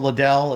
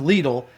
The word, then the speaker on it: Lidl: A lot of people think it's called Liddell. It's pronounced LLE.